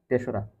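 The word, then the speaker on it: তেসরা: তোমরা এটাকে অনেকে তিনটা বল। এটা এটার সঠিক উচ্চারণ কি হবে? তেশরা।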